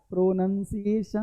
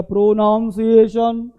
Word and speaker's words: pronunciation: क्या, प्रोनंसिएशन, प्रोनंसिएशन, प्रोनंसिएशन, ये कर दिया प्रोनाउंसिएशन, ये भाई साहब शब्द ही नहीं है, प्रोनाउंसिएशन होता है नहीं, प्रोनंसिएशन, कारण क्योंकि लिखा भी हम लोग क्या है, NUN लिखा है, तो प्रोनाउन नहीं, प्रोनंसिएशन, प्रोनाउंसिएशन गलत है, प्रोनंसिएशन है ना, इसको ध्यान रखना।